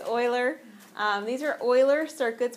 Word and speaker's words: Euler: we have seen before do you remember how to pronounce e l e r no it's Oiler it's Oiler um these are Oiler